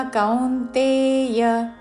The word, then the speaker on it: కౌంతేయ: తదర్థం కర్మ కౌంతేయ. తదర్థ రాకి మహాప్రాణాక్షము ధావత్తు. అనుస్వారము కావర్గంలోని అనునాసిక అంగ్ ఉచ్చారణ. తదర్థం కర్మ కౌంతేయ కా ఔత్వముతో దాని మీద ఆఘాత, చివరిలో యా హ్రస్వము. కౌంతేయ.